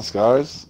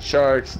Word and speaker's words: Skarzx: The X does not get pronounced. The X What? is there to establish the name. You do not pronounce the X at all. It's just Scars. Not Scars X, not Sharks, not Stars. It's Scars. Like a scar on your arm.